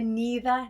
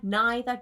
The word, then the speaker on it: neither: Again, you might hear neither, neither, 2 different types of pronunciation.